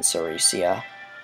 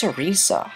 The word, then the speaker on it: Ceresia: Pleasure is mine, Ceresia. I think it's Cerisa. I've been saying it wrong this whole time, seriously.